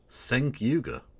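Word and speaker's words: Cenk Uygur: That's how it's pronounced now. Senk Yuga.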